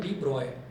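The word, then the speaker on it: de Broglie: हुआ है डी ब्रॉगली, लेकिन इसको बोला जाता है डी ब्रॉय, इसको डी ब्रॉय बोला जाता है, लिखा जाता है डी ब्रॉगली।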